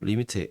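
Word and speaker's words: lim: 자, 그래서이 기호 리미트 리미트는 극한을 의미하는 영어 리미트의 약자이며 리미트라고 읽습니다.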